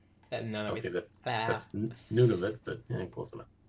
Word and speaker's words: Nunavut: that's Nunavut, but yeah, close enough. It's spelled N-U-N.